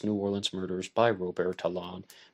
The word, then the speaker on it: Talon: It's called Ready to Hang, 7 Famous New Orleans Murders by Robert Talon, maybe pronounced Robert Talent, depending on your English pronunciation and your French pronunciation, English and Cajun French from Louisiana.